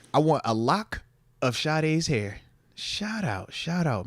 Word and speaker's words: Sade: want a lock of Sade's hair shout out shout out man you know that is right no the singer no that's how it's pronounced Sade yeah because I'm seeing